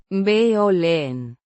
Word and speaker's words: violín: Pronounced vee-oh-leen. with the stress on the second syllable. The V. sounds like a soft V, as in English.